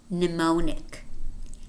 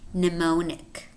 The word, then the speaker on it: mnemonic: damn summer diaphragm and in this word we have a letter M which is silent mnemonic mnemonic mnemonic mmm is a